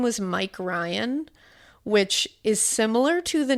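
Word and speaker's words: Rhine: The officer's name was Officer Mike Ry. Oh wow. And people and he said people all the time it's spelled R H I N E. He said people always think it's Ryan.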